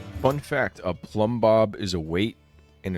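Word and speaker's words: Plumbob: I The thing that's interesting about Plumb is that the first B is silent. The B and plum is silent, but then once you get to Bob, both bees fully audible.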